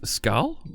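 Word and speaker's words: skål: It's skal, means cheers in Swedish.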